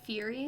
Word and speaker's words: Fieri: Am I pronouncing that right? Fieri?